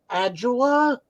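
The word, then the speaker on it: Ajala: I got to speak to, I don't know how to pronounce his last name, David Adjula.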